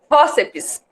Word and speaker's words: fórceps: Fórceps. O fórceps, ele é uma paroxítona, o mais forte é o fó.